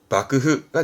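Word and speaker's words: 幕府: 부분이이 한자입니다 밥그흐 근데 조심할 건이 장막 마지막은 카이마크 해외 마크 지마크처럼 마끄마끄 하다가 얘만 바뀌어요 그래서 막부에 빠그흐가 되겠습니다 체크 체크하시고 다음 갈게요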